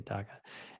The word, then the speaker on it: DACA: approving her daca status is how you say daca and work authorization for the next two years